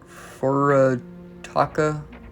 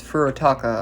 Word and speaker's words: Furutaka: But yeah, this is uh Furaka. No, it's Furotaka.